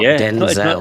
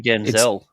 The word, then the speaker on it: Denzel: Years ago, in an interview, Denzel Washington said everyone has been pronouncing his name wrong, like forever. It's not Denzel. It's not actually Denzel. It's Denzel. Denzel, yeah, like his grandfather.